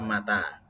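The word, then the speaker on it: متى: Tapi bacanya yang benar. Mata ya. Yang panjang tanya. Kalau dibaca ma-nya yang panjang, mata artinya mati.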